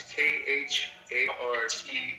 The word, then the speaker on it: Khartoum: Kartum, I think. It's Khartum. Oh God, I badly misspelled it. Wait, say it again. Cartoon. No, spell it again.